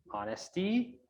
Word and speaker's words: honesty: pronounce it uh say silencing this or omitting this h sound it should be on